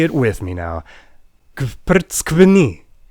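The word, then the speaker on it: გვფრცქვნი: it with me now, Kprtskvni. Yes, that is one single syllable. It means you peel us, and it starts with you pronouncing a bunch of consonants before you get any relief with that vowel.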